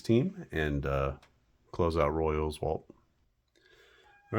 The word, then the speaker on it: Oswalt: And yes, that's how you say it, Oswalt. Looks like Oswalt, but the O is long.